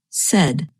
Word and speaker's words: said: her and notice that the past tense of say is pronounced said you can read remember this pronunciation by thinking of words that rhyme with said such as red and head and what about the